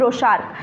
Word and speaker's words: Rorschach: परीक्षण, हमेशा याद रखिए रोशा। कौन है? हरमन रोशा। स्पेलिंग थोड़ी अलग है, स्पेलिंग इनकी ऐसे ही लिखी जाती है RORSCHACH, ठीक है, बट पढ़ते हैं हम रोशार्क। हरमन रोशार्क टेस्ट जो इंक